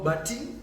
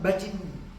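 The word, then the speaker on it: butt in: speaking ഞാൻ സംസാരിച്ചു കൊണ്ടിരിക്കുമ്പോൾ ഇടയ്ക്ക് കയറി ശല്യപ്പെടുത്തരുത് അപ്പോൾ ബജിൻ ശരിക്കും പറഞ്ഞാൽ ഇട്ട ഉച്ചരിക്കത്തില്ല ഇട്ട വരുന്നിടത്ത് ഇറ്റായാണ് നമ്മൾ ബട്ട് ഇൻ എന്ന് പറയുമ്പോൾ അവരുടെ ഉച്ചാരണം ബജിൻ ബജിൻ പക്ഷെ ആ ആക്സെന്റ് ഒക്കെ പിന്നെ പഠിക്കാം ഇപ്പോൾ നിങ്ങളുടെ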